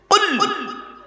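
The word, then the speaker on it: قل: কি বললাম কুল নয় উচ্চারণের পার্থক্য মানেও পার্থক্য কুল কয় বয় হস কুল আর কয় হস উলা কুল দুটো কুলের মধ্যে পার্থক্য আছে কুলু থেকে কুল মানে বলো আকালা ইয়া কুলু থেকে কুল মানে গেল বা খাও এজন্য বাবা যে ইমামের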